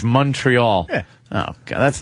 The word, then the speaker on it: Montreal: I've tried not to call it Montreal anymore. It's Montreal. Because they're all Montreal. That's how it's pronounced. But it's an O. Montreal. It's Montreal. It should be a U if it's Montreal.